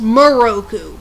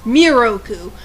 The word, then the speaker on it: Miroku: weeny mistake with moku they have his name pronounced moroku when it's miroku but then again it's